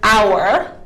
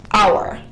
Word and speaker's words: hour: So for example, the word hour, the H is silent, hour.